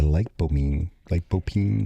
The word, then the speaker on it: lycopene: And the lycopene, like how do you say it?